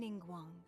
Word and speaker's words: Ningguang: How the heck do you pronounce her name? Because I don't know how either. I am Ningguang. Ningguang, okay.